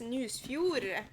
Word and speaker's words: Nusfjord: It's Nusfjord. It's a game about a Norwegian place. So I pronounce it in Norwegian. Yeah, it is about Nusfjord.